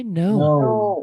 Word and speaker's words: know: I know. Do you know? K-nya tidak dibaca, Teman-teman.